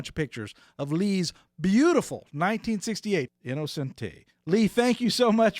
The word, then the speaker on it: Innocenti: Well, we generally say Innocenti, but I've heard people say Innocenti.